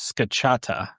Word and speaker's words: scacciata: Okay, So, according to the internet, the correct way to pronounce this is scacciata.